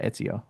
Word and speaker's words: Etsio: If you're on Etsy, Etsy actually just did a sellers event called Etsio. So, E T SEO. They called it Etsio or Et Yeah, Etsio, that's how you say it.